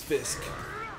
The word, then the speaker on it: Fisk: His name is Fisk, which rhymes with fish, because he's stupid.